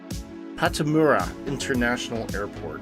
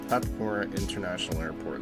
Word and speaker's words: Pattimura International Airport: This one, I can't remember how to pronounce it. It is... Pattimura International Airport. That's what it is. Pattimura International Airport.